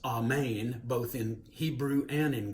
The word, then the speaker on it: amen: of the bible so the word amen incorrectly pronounced it's actually amane and that shows up both in the hebrew